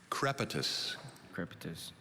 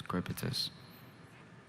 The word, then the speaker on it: crepitus: word is from latin maybe repeat the word crepitus k r e p i t u s crepitus crepitus is c r e p i t